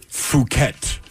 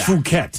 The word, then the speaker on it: Phuket: Phuket. Phuket Beach. Phuket, yes.